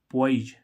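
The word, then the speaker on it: poise: देखें पीओ आई एसई पी ओ आई ओ आई आ रहा है तो इसका पॉइज पॉइज मींस क्या होती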